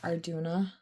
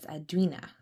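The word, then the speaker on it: Arduinna: See, I would pronounce that Arduna, but they pronounce it here as Arduina.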